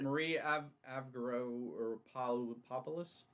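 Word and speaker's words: Marie Avgeropoulos: uh Sky skylines later too so is it Marie a avgo oropos yes that is her I never remember her name that's the exact pronunciation Folks by the way um sounds very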